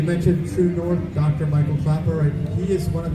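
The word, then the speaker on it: Klaper: His last name is spelled K-L-A-P-E-R, so it looks like Clapper.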